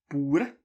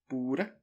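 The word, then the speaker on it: bort: Bore, bore. Here you don't say the T.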